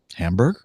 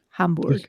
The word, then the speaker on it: Hamburg: to the airport and flew to, is it Hamburg or Hamburg?